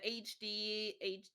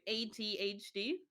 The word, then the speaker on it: ADHD: and in the end, uh, like on the start, I was first on the HD. I don't think I'm saying it right. ADHD. ADHD, yeah, that's how you say it.